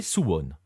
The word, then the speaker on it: Suwon: pour visiter sone d'ailleurs je sais pas si je le prononce bien il va me le dire dans un instant parce que qui dit Corée du Sud dit bien évidemment Baptiste mourgal salut Baptiste salut Nico et oui tu le prononces bien s c'est c'est bien